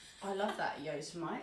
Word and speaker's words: Yosemite: I only found out recently was Yosemite.